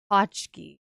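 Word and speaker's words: pączki: I say Pooski. Carly Nova is saying it's Pachchki.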